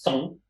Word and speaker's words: son: And you have to pronounce it like this, son, because it's in French.